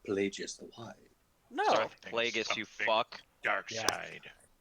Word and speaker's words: Plagueis: Darth Plagueis, you fuck. Dark Yeah. side. Well, didn't he say Pelagius in no, the movie? Plagueis.